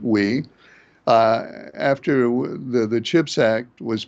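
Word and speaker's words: Wei: Wee, I think he pronounces it Wee, after the CHIPS Act was passed, he did announce that this was last year while Biden was still president.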